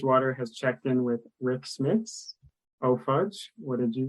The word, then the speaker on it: Smits: Tears Garbage Water has checked in with Rick Smits. Oh, Fudge, what did you guys check in with? It's all it could be was Rick Smits. Big and white, rhymes with chiclets.